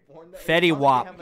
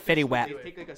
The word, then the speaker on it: Fetty Wap: of what's his name I always say it wrong that's his name I said it wrong in the how to sing like a favorite artist video but like that's who I was trying to base it off Fetty WAP I said fitty wet very wet that's the